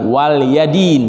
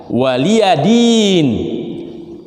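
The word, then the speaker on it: وَلِيَ دِينِ: itu bagi kalian waliyadin ini bacanya bukan waliyadin bukan tapi walia waliyadin dan bagiku agamaku ya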